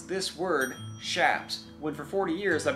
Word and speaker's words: chaps: So I looked into it myself, and it appears that it's probably actually pronounced shaps, which is still very difficult for me to say.